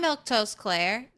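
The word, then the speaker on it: Milquetoast Claire: Uh, I'm Milk Toast Claire. That's how you say my name.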